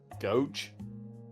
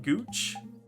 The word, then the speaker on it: gauche: Gauche? Definitely not gooch. Gooch. Alright, we're getting the. Oh, to gooch pronounce. Gauche. Gauche. It is gauche.